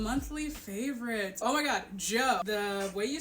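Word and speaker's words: Djo: Oh my god, Joe. The way you spell it is D-J-O.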